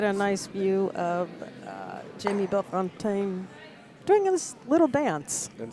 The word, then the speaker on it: Bellefontaine: And the second E in his last name is silent.